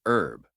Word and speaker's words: herb: Americans drop the H and say herb, but British speakers pronounce the H.